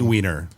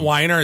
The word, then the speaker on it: Weiner: week ever um Anthony Weiner oh there's two this week Anthony Weiner yeah but Anthony Weiner is hand it's not Wier it's still it's weiner no it's still I